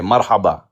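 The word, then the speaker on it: مرحبا: Marhaba.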